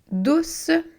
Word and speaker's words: douce: Douce. Douce qui est un adjectif. On pourrait avoir une main douce. Donc, le C est devant le E. C'est un C doux. Ça fait le son S.